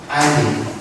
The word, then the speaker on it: islet: 세포성 아일릿. 스펠링은 아이슬릿이죠. ISLET 아이슬릿. 근데 S가 문금입니다. 아일릿. 베타 아일릿 세포가 가게 되어 인슐린이 생성되는 현상입니다.